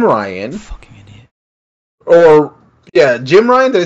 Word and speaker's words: Jim Ryan: Or, yeah, Jim Ryan, did I say his name right this time?